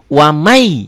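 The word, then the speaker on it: وَمَنْ: mati satu huruf hidup wamai ya Betawi ini Qalqalah sugro ya wama Iya betul tulisannya waman di latinnya dilatinkannya ya waman dibacanya wamai ya n-nya berlibur jadi y Pak hari saya bukan Quran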